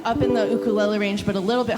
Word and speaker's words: ukulele: to pronounce Hawaiian word just pretend it's in Spanish it's the same vowel structure so that's why it's ukulele um the first time